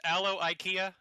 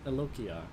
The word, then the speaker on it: Eloqua: funny is this what your name's not pronounced aloe ikea is that not the name of your no no it's it's um eloqua well yeah yeah that's